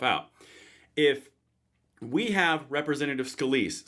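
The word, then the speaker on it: Scalise: Representative Scaliz says after Freedom Caucus, that's how that's pronounced. Now it's pronounced Scaliz.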